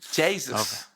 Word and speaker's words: Jesus: No, but Jesus, so apparently if you say Jesus with an Irish accent, that's that's the correct pronunciation. Jesus.